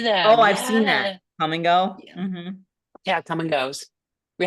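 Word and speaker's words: Kum & Go: There's also a gas station here called And it's spelled K U M. I've been to them. Oh, I've seen that. Come and go.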